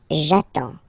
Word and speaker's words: j'attends: So the first form will be j'attends, j'attends, okay? You get D and S, well, basically you don't pronounce them, okay? And then you get only the sound attends, nasal here, en, en, j'attends, okay?